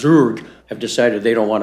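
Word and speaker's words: Zug: And so some like Zurg funny that's how it's pronounced Zurg have decided they don't want to have any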